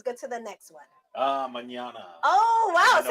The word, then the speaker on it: mañana: Just round your A's just a bit. That's mañana. But very good, Rounded very good, A. very close to the correct pronunciation. Mañana. Instead of saying A, it's Mañana.